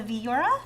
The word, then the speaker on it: Viura: The reason we chose this for unusual suspects is because this is made with a white grape called the Viura. Is that how you say it? Yep.